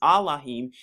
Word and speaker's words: Elohim: Aller Israel Yahweh our Elohim another way to pronounce Elohim is Alim is one and thou